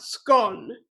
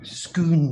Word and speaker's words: Scone: see him crowned at Scone. I think it's pronounced scone. Scoon, it's Scottish, I said.